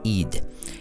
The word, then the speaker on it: Ed: His name is pronounced Eid.